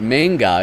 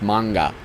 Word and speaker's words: manga: So there's not manga, it's manga.